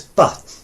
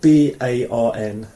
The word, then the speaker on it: barn: words in icelandic and the word for child is ba it's spelt b-a-r-n but they don't say barn they say um we'll practice that